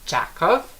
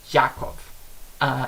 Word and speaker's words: Jakov: do, because my name, a lot of people mispronounce as Jakov because of the J at the beginning, but in my country my name is pronounced like if I had a Y as the first letter. So basically my name is Jakov instead of Jakov.